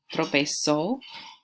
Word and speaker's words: tropezó: You're remembering that accent on the O, okay?